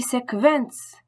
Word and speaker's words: Sequenz: En début comme en milieu de mot, le QU allemand se prononce toujours comme un K français suivi d'un V.